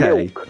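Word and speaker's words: Miwk: Milk. You have to say it as though you're a small child that can't pronounce the word milk.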